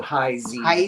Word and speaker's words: Heisey: like that beautiful it's heisey I love Heise glass oh boy potato potato tomato tomato well if you're pronouncing it the German Way it's the Z so high Z but this was black